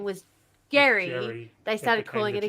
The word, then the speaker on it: Gerry: And then over time it became gerrymander because we pronounce it Jerry, not Gary, but his name was Gary.